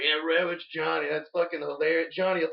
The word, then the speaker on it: Red Witch Johny: Like people always say Red Wish Johnny. Yeah. And you're like, there's a T in that.